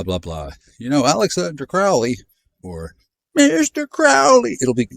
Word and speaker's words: Crowley: Crowley rhymes with holy.